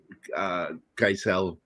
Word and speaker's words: Geisel: or the hard G, but I know the German side, for the most part, is pronounced with the hard G, and is Geisel.